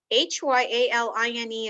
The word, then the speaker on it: hyaline: in our body it falls into three categories h-y-a-l-i-n-e is pronounced hyaline and this is the most common